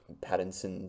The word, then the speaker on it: Pattinson: I think I've never been on the Robert Pattinson sort of hype train.